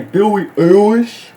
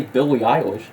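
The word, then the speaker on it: Billie Eilish: rock that you don't even know how to pronounce Billy ish what the you say Billy iish that's not how you say Billy iish dude I I mean I personally don't listen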